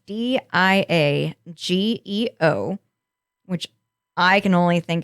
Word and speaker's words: Diageo: like a dream child between skybound entertainment and diago which is how i'm going to say that it's d i a g e o which i can only think of pronouncing it